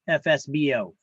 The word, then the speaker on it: FSBO: See, I pronounce that, FSBO, FSBO.